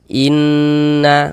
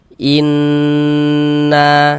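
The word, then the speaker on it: إنّ: Jadi di bagian inn-nya itu suaranya itu kita tahan, kita panjangkan sejenak. inna seperti itu. Innaah begitu ya. Nah, kita ghunahkan inna na dibaca panjang. Perhatikan lagi rumus tiga yang warna hitam.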